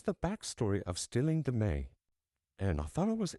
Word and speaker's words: me: the stealing the Me, The m e is pronounced May. So, this is the backstory of stealing the May.